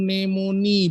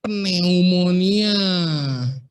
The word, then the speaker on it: pneumonia: dua minggu dirawat karena bacanya itu nemoni bukan Pneumonia kalau orang awam bacanya pneumonia Biarin aja tapi kalau medical student atau bacanya nemoni sama nanti psikiatri tulisannya kan